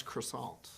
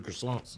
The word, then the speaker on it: croissant: and how the many terrible ways I've ever pronounced it where's the best croissant you've ever had you just did pronounce it